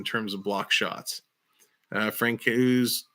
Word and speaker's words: Francouz: Francouz, not Coos.